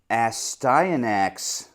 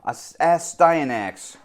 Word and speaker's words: Astyanax: Astyanax. Your boy's done his homework. He finally figured out how to pronounce it.